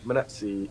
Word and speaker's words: Munetsi: But yeah, we'll stick to the Munetsi. Is that that's how you pronounce it?